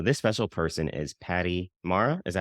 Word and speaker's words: Mara: So, this special person is Patti Mara. Is that how you pronounce the last name?